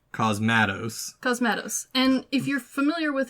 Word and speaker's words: Cosmatos: I've pronounced it Cosmatos because it sounds badass, but it's actually Cosmatos.